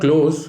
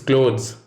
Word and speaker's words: clothes: It's not close, it's clothes. The th the is a very soft sound likely to be overlooked. Show your linguistic sensitivity and always pronounce it.